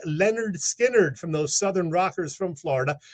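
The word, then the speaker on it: Lynyrd Skynyrd: two that amazing debut release pronounced Leonard Skynyrd from those Southern rockers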